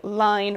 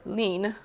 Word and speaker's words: line: So that is where that term comes from, and the longer fibers, the line or lean, I've heard it pronounced both ways, are what is more ideal for creating a really fine linen textile.